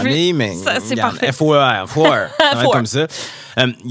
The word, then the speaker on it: Foer: Je ne sais jamais comment prononcer son nom de famille, mais ça, c'est parfait. Foer, comme ça.